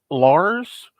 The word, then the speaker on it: LCARS: And I feel like it used to be everybody said Lars, that you just kind of you made the C silent, because it's if you're